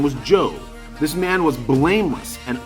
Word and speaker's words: Job: guy's name is Joe the spell jobs pronounced Joe okay and here's what